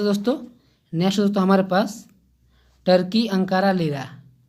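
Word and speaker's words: Turkey: तो ये टर्की को हम लोग दोस्तों तुर्की भी बोलते हैं, तो इसको हम लोग कोई इसको तुर्की भी पढ़ता है या टर्की पढ़ता है। तो इसका शुद्ध उच्चारण दोस्तों होगा आपका इंग्लिश में होगा टर्की, ठीक।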